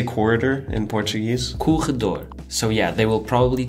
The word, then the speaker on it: corredor: Corredor.